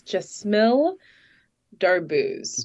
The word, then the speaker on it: Jesmille Darbouze: hear that thank you and in the full pronunciation is jmill daro Dar Jill daro okay yeah I know the